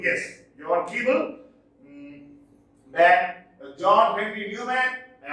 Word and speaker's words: Keble: John Keble, yes, he is pronounced as John Keble, yes, John Keble.